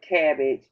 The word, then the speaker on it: CABG: with this in color can we call it cabbage cabg so that's the afternoon we we pronounce it cabbage and basically just explain